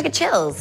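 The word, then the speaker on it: Grgich Hills: This year, there's a new one from Grigich Hills. Is that how it pronounced? Oh, Grigich Hills.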